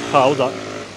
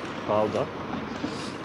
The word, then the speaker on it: Gouda: It's pronounced like Gouda, G-O, Gouda.